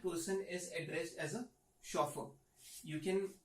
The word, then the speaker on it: chauffeur: Alright, the next one is chauffeur. Guys, we don't pronounce it as chauffeur, it is pronounced as chauffeur.